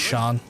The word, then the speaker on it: Sean: Keep thinking you're saying Shan and No, I mean the proper pronunciation Sean is Shan.